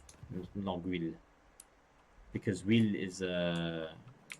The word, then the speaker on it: Longueuil: Yes, I do pronounce the French names. Actually, it's if you want to be more correct, it's actually Longueuil, Longueuil, because Huile is H.